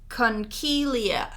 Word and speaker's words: conchiglie: So my next one is it's pronounced conchiglie, which is the seashell pasta.